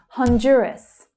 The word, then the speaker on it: Honduras: Honduras, Honduras. So the stress there is on the second syllable, also the most trickiest.